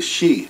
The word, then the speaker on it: Xi: But they call themselves the Shi. And in the spelling down there, that's spelled Xi, but it could be spelled SHI for that matter.